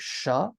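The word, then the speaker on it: શ: percent ten percent softer now you have sha literally the sh sound in English like in the word shock or Sharon now here's a fun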